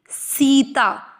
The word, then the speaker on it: सीता: गायत्री, सीता। 'सी' और 'ता' दोनों ही दीर्घ हैं; सीता। 'सा' के साथ आधा 'ता' मिलकर 'सत्य' बनाता है; हम 'या'